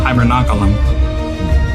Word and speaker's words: hibernaculum: Hibernaculum. Alright, that got really complicated at the end there. I'm not gonna try and pronounce.